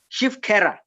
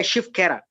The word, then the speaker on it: Shiv Khera: One book by Shiv Khera, very common book, very nice book. If You Think You Can Win. Shiv, the way I'm just pronouncing it, SHIVKHERA, Shiv Khera.